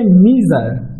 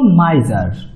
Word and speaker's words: miser: অনেকে এটার উচ্চারণটা ভুল করে থাকে, অনেকে এটার উচ্চারণ করে থাকে মিজার, বাট এটা ইনকারেক্ট এবং কারেক্ট প্রোনাউন্সিয়েশন হলো মাইজার।